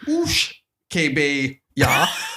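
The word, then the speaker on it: uisge-beatha: Or Ishkabaha is an Irish Gaelic pronunciation and pronounced Oosh Kebe Ya for Scottish Gaelic.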